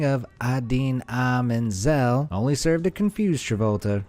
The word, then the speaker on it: Idina Menzel: Unfortunately, the phonetic spelling of Idina Menzel only served to confuse Travolta, resulting in the opposite effect to what was intended. The wickedly talented one and only Adele Dazeem.